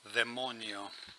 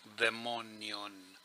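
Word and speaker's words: δαιμόνιον: topic is daimon, or as they pronounce it in Greek, demonio, demonion. Now, whoever professes to be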